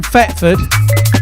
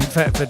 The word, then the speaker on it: Thetford: See, I'm from Thetford, which sounds like it's with an F, but it is actually spelt with a TH.